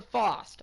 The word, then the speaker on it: Fast: I always thought it was fast, because in the game, it's pronounced fast. So it's Jasper Faust.